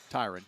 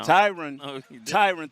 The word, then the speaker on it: Tyron: And Tyron kind of, is I'm pronouncing it right? Tyron. No. Tyron, thank you, Bill.